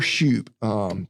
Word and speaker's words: Shupe: Tyler Shoop. Tyler, just like it normally is spelled, and then SHUPE.